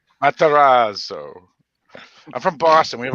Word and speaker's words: Matarazzo: Matarazzo.